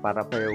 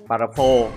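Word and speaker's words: Parafal: À, Parapheo, mình hay đọc là Parapheo các bạn ạ. Parapho mới đúng.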